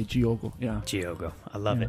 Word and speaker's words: Diogo: It's spelled D-I-O-G-O, yes. Friends here, and kind of might sound like Diogo, maybe, but in Portuguese, for Brazilians, they do the D-I with the G sound.